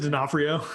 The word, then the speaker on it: D'Onofrio: Vincent D'Onofrio.